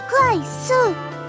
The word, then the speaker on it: 快速: やすいと思います中国でも快速は快速発音はクワイスーですからほう同じ漢字圏